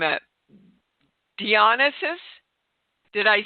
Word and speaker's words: Dionysus: screw this name up dionysus did i say that right uh uh well pronunciation is a matter of perception but nevertheless it's dionysus and i'm is that